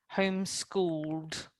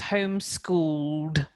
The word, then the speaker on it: homeschooled: for me home school home schooled home school okay so yes you pronounce the d at the end so it's homeschooled one more time homeschooled